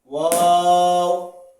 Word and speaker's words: واو: এরপর ওয়াও ওয়াও, বাস যেরকম মুখটা গোল করে এরকম ও বলতে কিছুটা গোল হবে।